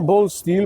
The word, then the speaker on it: Bålstil: Firma Ball Steel, bo tak się właściwie powinno powinno wymawiać tą nazwę.